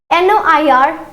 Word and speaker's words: noir: So in masculine it will be noir. In feminine it will be noir. Okay, so this is again an exception. So we have to keep the similar pronunciation for the color black.